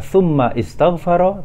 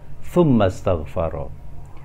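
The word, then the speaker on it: ثم استغفر: Di sini kita tidak membacanya tsumma istaghfara, tetapi jika kita baca bersambung maka hamzah wasal tidak perlu diharokati. Kita baca tsumma astaghfara.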